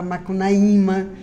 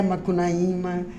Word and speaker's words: Macunaíma: eu canso de falar que eu sou contra quem fala Macunaíma, entendeu? Não é Macunaíma, né? Então é Macunaíma, né? A pronúncia é certa, né? Mas já na linguagem habitual é Macunaíma, né? Que é Roraima, é Pacaraima, é Sorocaima. É tudo mais aberto, né?